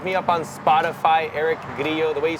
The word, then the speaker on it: Grillo: my name and then Grio is um Spanish if you spell it in English it's gillo but it's g r i l l o um and um that's